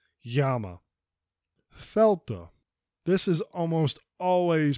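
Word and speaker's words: Γάμμα: correct pronunciation is Veta Yama typically we'll say GMA with a very hard G but it's actually a very light G that sounds more like a y Yama Fela this is almost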